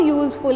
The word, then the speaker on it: useful: It is a useful animal, because here this U in umbrella is giving sound of umbrella, right? But this same U is giving the sound of U in useful.